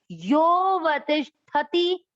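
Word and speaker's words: योऽवतिष्ठति: यो वतिष्ठति, यो, यह इसको अपन ने क्या पढ़ा था, अ पढ़ते हैं, उच्चारण में अ नहीं लेते।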